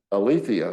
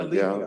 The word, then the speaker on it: Aletheia: And the name So- of that organization is Alethea? Aletheia, yeah, Aletheia. the way I pronounce it, Yeah, the Greek yeah.